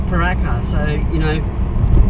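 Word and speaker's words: Pooraka: We said peruka and we so struggled with but it's spelled double O but it's paraka so you know again it's it's not English.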